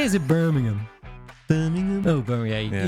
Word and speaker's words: Birmingham: Oh, is it not Birmingham? No, Birmingham? not in this country. How do you say? Is it Birmingham? Birmingham. Oh, Birmingham. You got to say it with a slight whine.